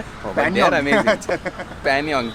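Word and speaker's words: Pangong: Panyong, G is silent.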